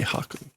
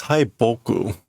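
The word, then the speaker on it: 北: hello there hi Hoku no I know this word that's not the way you pronounce it that was Haku okay we're going to have to go this another way that's like um that's M right no Mau I guess it is Mau and then it is uh North yeah it's Hoku that's normally how that's pronounced so it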